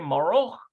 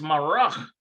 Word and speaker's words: מרק: Haim Roni rotse maroch of or vayirchot. Haim Roni rotse maroch of vayirchot. Maroch. You say that. האם רוני רוצה מרק עוף וירקות? It's marach.